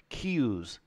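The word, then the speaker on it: Kyuss: the son of kills cues why they kill me every time with these things key so k y is key and the rest is ooze it's almost like Chinese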